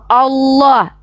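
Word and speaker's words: الله: kalian Kalau kami Allah Allah lamnya tuh kalau ada sama tasydid tuh ada tiga tuh Allah ditafkim bacanya ditebalkan Allah bukan Alah alah ya bahasa Padang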